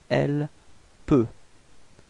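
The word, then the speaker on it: elle peut: L P.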